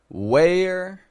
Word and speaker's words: where: three words here so listen closely where where where all three of those wees we a r wh e r e n w a r e all of them same pronunciation where where where and the